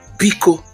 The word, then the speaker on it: biko: Then we have biko, which means please, please. Biko, B-I-K-O, please. Use that intonation. I didn't say biko. Biko. No, I didn't say pronounce it that way. Look at the pronunciation.